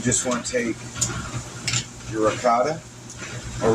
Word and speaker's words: ricotta: You just want to take your ricotta, or ricotta, as it's properly pronounced.